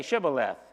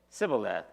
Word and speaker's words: Shibboleth: When he said, "No," they said to him, "Then say Shibboleth." And he said Sibboleth, for he could not pronounce it right.